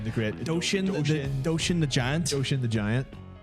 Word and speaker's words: Doshin: That was how do you pronounce it? Not Dorian the Great. Doshin the Giant.